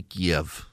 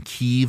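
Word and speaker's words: Kyiv: out now the Russians have made it to Kev K if you're wondering why so many people started saying keev instead of Kev K iev is the Russian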